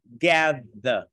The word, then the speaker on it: gather: Đây đọc là gather. Âm the. Nghĩa là mình thè cái lưỡi ra giữa hai răng và mình rung cái cổ họng.